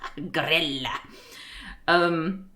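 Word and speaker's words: Grýla: The way you pronounce her name sounds like BBQ and barbecue in Swedish. Grilla.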